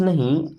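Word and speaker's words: know: Okay, then I don't नो, I means होता है मैं, डोंट मीन्स नहीं, नो। अब इस नो वर्ड में दोस्तों के भी साइलेंट होता है और डब्ल्यू भी साइलेंट होता है।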